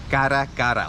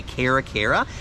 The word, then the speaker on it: caracara: Now, it's called a crested caracara, or if you don't roll your R's, you can say caracara, and it's a type